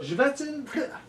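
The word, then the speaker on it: Chvátil: Comment il se prononce? Jvatil.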